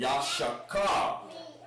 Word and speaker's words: Issachar: Yashakar.